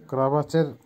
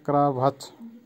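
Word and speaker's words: кровать: ক্রাভাচ, ক্রাভাচের বাংলা হবে বিছানা বা বেড, উচ্চারণ হবে ক্রাভাচ। আবারও বলছি ক্রাভাচ।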